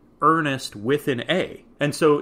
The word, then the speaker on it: Ernest: and says ernest ryles prefers to be called earnest not ernie and his name is